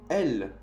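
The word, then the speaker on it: elles: Se pronuncia de la misma manera que los dos de la tercera persona del singular. O sea, ellas se dice elle, como ella.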